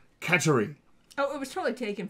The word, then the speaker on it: Kateri: Most people know it as Kateri, but it's believed that it was originally taken as a local / indigenous version of the word Catherine, and therefore it would be more properly pronounced Kateri.